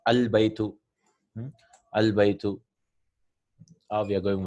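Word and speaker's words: الْبَيْتُ: Then this is Hamdatul Was, Al Baytu. The house is pronounced as Al Baytu.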